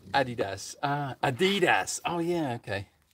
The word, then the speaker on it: adidas: exploring the camera um americans usually mispronounced as adidas rather than adidas uh adidas oh yeah